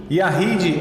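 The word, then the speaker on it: יחיד: Yahid é Y-A-C-H-I-D mudo também, né? Yashid. Então Y-A-C-H-I-D, Yahid.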